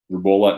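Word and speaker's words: rubeola: my medical question uh rebola how you pronounce it rubolla not rubella rubella is german measles i'm learning for someone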